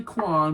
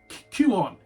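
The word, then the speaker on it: Kuon: I've seen copies of, and I can't pronounce this, I say Quan, but I've been told many times it's not. It's like Q-on.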